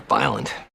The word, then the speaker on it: violent: It looks like 3 syllables, but most native speakers will just pronounce it as 2.